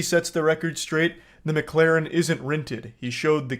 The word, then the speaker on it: McLaren: Okay, so this part pisses me off because he says the name wrong like 8 times in a row. It's not McLaren, it's McLaren.